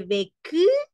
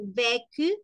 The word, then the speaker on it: vécu: Luego dice internacional, je vécu, entonación y pronunciación, acentuación. Vécu, no es lo mismo decir vécu, sino vécu, la mayor fuerza de voz está al inicio.